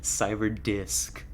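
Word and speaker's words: Cyberdisc: cyber ducks hold on Cyber disc say it right Scarlett say the right word cyber disc there's an s in there that's very important for you to pronounce um that is uh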